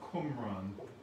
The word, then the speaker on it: Qumran: a town really called Qumran, Qumran. And if you're driving around there, as I was, you might find it spelled with a K in some places, Qumran. But it's properly Qumran, Qumran.